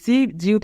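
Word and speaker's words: 시장: সিউত প্রথমে থাকলে দন্ত স, ই রাসছি সি, জিউত মাঝে থাকলে বুর্গি জ, আ যা, ইয়ং নিচে থাকলে অনেক সার জাং, সিজাং, সিজাং মানে বাজার।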